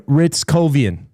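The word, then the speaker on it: Hryckowian: I found the pronunciation. Perfect. It's Justin Ritzkovian.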